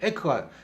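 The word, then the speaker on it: yak: 트리 긴 소를 갖다가 야크라고 이야기하는데요이 정확하게 발음은 에크하기도 하고 야크하고 이야기하는데 에크가 정확한 발음인데요 영어식 발음은 에크예요 왜 에크를 하느냐면 또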